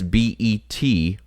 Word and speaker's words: Betelgeuse: And that's Betelgeuse, not the one that comes around if you say his name 3 times.